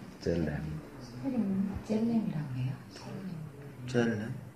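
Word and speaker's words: צלם: 젤렘. 젤렘이라고 해요. 젤렘? 뭐 첼렘이라고도 하고 젤렘이라고도.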